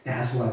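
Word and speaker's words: 耶穌: 야수가 뭐게요 예수의 한자어예요 예수를 한자로 중국 사람들은 예수라고 발음하는데 우리나라 사람들 그걸 그대로 우리나라 말로 읽으면 야소가 되는 거예요 그래서 옛날에는 야소기와 야식을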